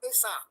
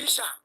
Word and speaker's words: Esa: From that word, they got the word Esa. It is the British that corrupt the word Esa to Isha. The British couldn't pronounce the word Esa. They now pronounce Esa as Isha.